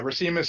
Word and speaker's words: Racimus: Yeah, Racimus is the correct pronunciation.